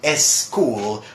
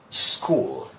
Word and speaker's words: school: exist in Spanish so they people say s school what they should be saying school all right good look